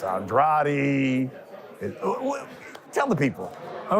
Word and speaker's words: Andrade: this fight you know last fight I said pronounce it Andre because I was going against Deon Nickerson I was like man just say Andre now I think Benavides is Andrade is the way to pronounce this fight we